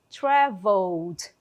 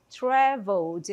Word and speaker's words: traveled: Ó, observem que eu não falo a letra ali, o último e, eu não falo traveled, fica até feio, né? Então, traveled, traveled é assim que eu vou pronunciar esse verbo.